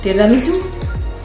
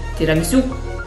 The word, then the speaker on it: tiramisù: Like, you need to give a cut immediately after you read this accento or accent. Mm-hmm. Tiramisu, like that. You cannot say tiramisu, like, you know, the soft one. But you need to give, like, hard cuts in the end of tiramisu.